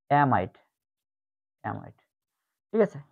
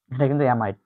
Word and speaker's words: অ্যামাইড: Acid অ্যামাইডের উচ্চারণ হচ্ছে অ্যামাইডের মতো, অ্যামাইড, অ্যামাইড, ঠিক আছে? আগের একটা ছিল কি এমিন, এটা কিন্তু অ্যামাইড।